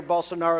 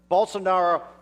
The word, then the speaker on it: Bolsonaro: Well, next October, remember, about 30 days before this monumental midterm election, he's going to face, his father, Jair Bolsonaro, is going to face the most dangerous leftist